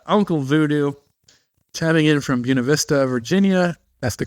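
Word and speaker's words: Buena Vista: We've got uh Uncle Voodoo tabing in from Bunav Vista, Virginia. That's the correct pronunciation, by the way, folks.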